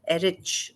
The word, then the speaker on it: Erich: by Eric Eric sorry how do you pronounce it Erich right Erich yeah one night When